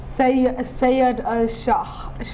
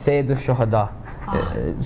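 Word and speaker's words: سيد الشهداء: Sayyid al-Shahada, Shaheed.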